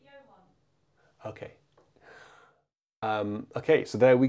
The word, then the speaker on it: Johan: And this is number three in Jehan's list. A good list. Sorry? You pronounce it Johan.